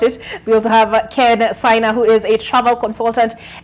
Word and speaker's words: SY: We also have Ken Saina, who is a travel consultant, SY Voyage Africa. Did I pronounce that right, the SY, or is it SI? It's Sai.